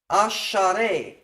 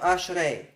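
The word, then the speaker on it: אַשְׁרֵי: And in this situation, a vocal schwa, according to the Masoretic tradition, is pronounced as a. Okay, not a, short a. Asharei instead of ashrei.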